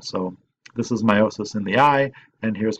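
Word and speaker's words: miosis: confused with this meiosis even though it's it's pronounced the same way the spelling is different so this is meiosis in the eye and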